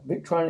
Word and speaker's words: Victron: Yeah, Victron Energy.